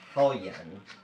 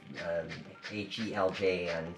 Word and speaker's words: Heljan: And I discovered a couple of years ago that the model company Heljan, with the J, H-E-L-J-A-N, so Heljan, I think is how it's pronounced, back in the 70s